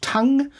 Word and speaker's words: Tunng: My recommendation was going to be a band called Tongue, which is spelled Tunng.